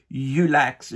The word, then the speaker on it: Yullax: je pense qu'il l' je voulais que le mot se prononce aussi bien en français qu'en anglais puis que ça sonne à peu près pareil et puis si ben moi je le prononce Youx en français ou en